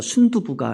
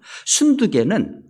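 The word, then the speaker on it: 순두게: 이 발음을 잘해야 됩니다. 순두부가 아니고 순두계입니다. 순두계는 풍족하다는 뜻이에요.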